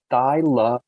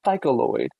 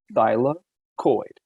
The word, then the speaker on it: thylakoid: that photosynthesis can occur it's thylakoid not cycloid not flucoida it's thylakoid and remember i said some